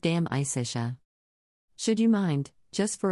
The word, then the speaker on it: De Amicitia: We finished Livy and De Senectute and are now engaged with De Amicitia, pronounced Dam Isitia.